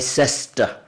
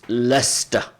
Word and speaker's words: Leicester: Champions called Leicester or some people abroad they pronounce it like sister often I hear people they say this is is it like sister I said no it's Leicester that's how we we call it and of course every